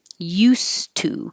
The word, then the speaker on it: used to: well first of all if you just said use two you wouldn't hear the D it's going to sound like a a t and nothing at all used to used to